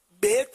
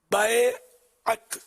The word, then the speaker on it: بیعت: بیعت بیعت نہیں، بیعت صحیح تلفظ ہے۔ بیعت کا لفظی معنی